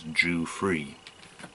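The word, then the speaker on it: Giuffre: Jimmy G or free I thought it was Proust to pronounce as Jew free that's about doing that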